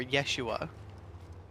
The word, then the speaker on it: Yeshua: think all everyone's crazy the name as he would have pronounced it was hhua or Yeshua no thank you which